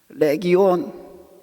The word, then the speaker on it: 레기온: 레기온. 온자 발음 좀 긴 발음인데 레기온이라고 발음합니다.